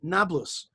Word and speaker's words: Nablus: letter uh uh p they pronounced it b so it became nablus but it is shrimp